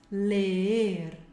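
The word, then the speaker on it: leer: o R, aprender, ler, tem que pronunciar os dois Es, ler, ler, compreender, aqui é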